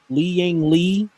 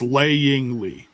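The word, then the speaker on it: Lei Ying Lee: Is it Lei Ying Li? It's It's Laying Li.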